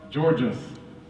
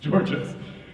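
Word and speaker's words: Tzortzis: Hamza Andreas geores is and yes it is pronounced Georges yeah all right cool Georges it's spelled with a TZ but o r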